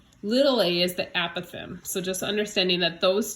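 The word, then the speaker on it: apothem: a Pithom is and I called it a possum for years and then found out that a Pithom is apparently the more mathematically correct pronunciation but no judgment anyway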